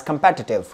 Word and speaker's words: competitive: Study it word as कंपैटिटिव, कंपैटिटिव, right, you guys going to pronounce this word as कंपैटिटिव, क्या बोलेंगे कंपैटिटिव, क्या बोलेंगे कंपैटिटिव, है ना।